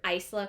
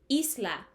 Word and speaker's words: Isla: this spelling is that it actually spells Isla and Isla in Spanish means Island so if you think about it in a Spanish form her name is Island crown and I just